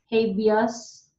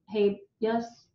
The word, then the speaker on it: habeas: And then you have writ of habeas corpus to stroke it out, writ of habeas, no, habeas.